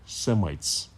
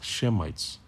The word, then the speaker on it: Semites: of shem you are against semites against shemites you know to accurately pronounce it and who are